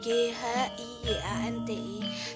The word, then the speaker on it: Giyanti: Dalam pelafalan Belanda, ia tersebut sebagai GHIYANTI. Secara tertulis, ia terbaca sebagai Giyanti.